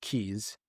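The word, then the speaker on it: Cayes: It's spelled C A Y E, like cay, but they're pronounced keys.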